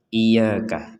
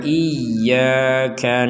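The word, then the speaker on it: إياك: iaka sekali lagi iyaka jangan sampai dibaca sekedar iyaka iyaka Kalau cuman iyaka Berarti tidak ada tanda tasdidnya iyaka na'budu wa iyyaka nasta ini juga sama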